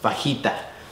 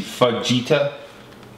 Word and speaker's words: feta: okay that's good but that word is pronounced Vita what no dude look that's a j see feta yeah you're right you're